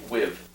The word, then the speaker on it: WWIV: So you've always pronounced it World War IV? Mm-hmm. WWIV. Okay. One thing I found talking to the amount of people I've talked to is that many of them call it simply WIV.